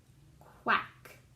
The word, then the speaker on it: quack: Hands up, qua, a, k, quack.